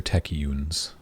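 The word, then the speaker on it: Techeun: it's pronounced Techian. And you're like, well, then you shouldn't have spelled it like that, then should you?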